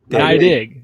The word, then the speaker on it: Neidigh: Neidigh. Oh, okay. All right, here we go. Yep. All right. Dig. I dig Neidigh.